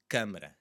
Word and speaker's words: câmara: The first word is câmara, câmara, and it's with the stressed syllable there as well. Câmara. So it's the first syllable. Câmara, and that's telling us to close up that sound a little bit, and it happens to have an M, so it is a bit more of a nasally sound.